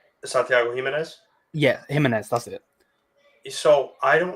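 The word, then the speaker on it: Giménez: Yeah, Jimenez, that's it.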